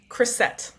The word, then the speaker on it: Krysset: Krysset.